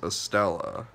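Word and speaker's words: Estella: i was just corrected it was a stella and then that rhymes with corella but corella's the weird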